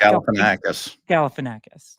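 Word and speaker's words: Galifianakis: Zack Galifanakis.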